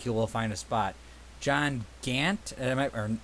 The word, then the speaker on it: Gant: John Gant, or how am I pronouncing that right?